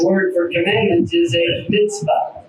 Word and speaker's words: mitzvah: The word for commandment is a mitzvah. जो अबरानी में हुक्मों के लिए लफ्ज़ इस्तेमाल मिtzvah है। It's spelled M-I-T-Z-V-A-H.